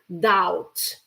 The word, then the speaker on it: doubt: good also good word doubt although there is a b over there a letter B you don't pronounce the letter B okay you say doubt I doubt that so